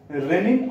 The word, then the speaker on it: renin: हम बोलते हैं तो ये होमोफोंस की तरह है से साउंड करता है एक ही तरह का साउंड प्रोड्यूस करता है रेनी है जो लेकिन जो डिफरेंस